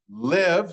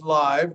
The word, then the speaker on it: live: several, travel, above, believe, drive, give, have, leave, live, sometimes live, depending on if it's a verb or if it's an adjective, love, and move.